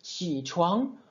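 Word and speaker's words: 起床: On ne fera pas, par exemple, dans ce mot-là qui se prononce qi chuang, on ne prononcera pas qi chuang, c'est beaucoup trop compliqué, beaucoup trop fatigant pour la gorge. On prononcera qi, qi chuang, qi chuang. Voilà, je suis resté en bas dans les graves, j'ai légèrement remonté, puis j'ai enchaîné sur le deuxième caractère.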